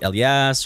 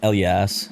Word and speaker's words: Elias: like i'll be like el yas or elias do you know how it's pronounced in it's arabic right yeah it's l yes so elias yes yes i wish